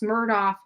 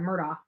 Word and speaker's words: Murdaugh: Alex Murdaugh is his son.